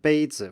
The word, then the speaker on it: 杯子: So in a word like 杯子, for example, the z here at the end is very short, and you can hear that the stress is on 杯.